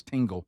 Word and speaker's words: Tingle: Dingle. And I was like, Gary, it's Tingle. It's Ding. It's not. It's Tingle.